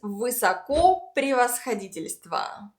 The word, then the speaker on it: высокопревосходительство: The next one is высокопревосходительство.